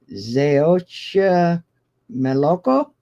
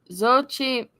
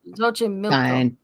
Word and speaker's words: Xochimilco: mess this one up, Zeocha Meloco. Did I do okay? Xochimilco? Yeah. No, Xochimilco. Oh, Xochimilco. fine.